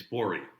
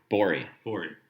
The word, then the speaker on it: Bourie: It's Bourie. Bourie. Okay. Rhymes with Lori.